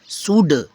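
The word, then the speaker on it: should: ठीक है जैसे एस एच ओ यू एल डी इसको शुल्ड नहीं शुड क्या होगा शुड ठीक है सीओ यू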